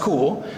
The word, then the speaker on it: Kuhl: is Dr cool because her last name is spelled Kuhl and it's pronounced cool so Dr cool has